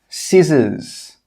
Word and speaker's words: scissors: The first rule is that when the letter C comes after an S, it's normally not pronounced. Some common examples are scissors, muscle, ascend, conscious.